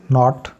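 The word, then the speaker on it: knot: पांचवां प्रिंसिपल वो है अगर किसी लफ्ज में n से पहले के आता है तो के हमेशा साइलेंट आ जाता है अब यहां पे के की बात हो रही है के जब ए से पहले आ जाएगा तो के साइलेंट हो जाएगा तो यहां पे देखें नो अ यह जो है के एन से पहले आया तो साइलेंट हो गया इस तरीके से नॉट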